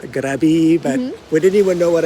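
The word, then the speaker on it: Krabi: in grabby K yeah in Thai it's pronounced grabby but would anyone know what I'm saying other than a Thai person if I said crabby hey but this video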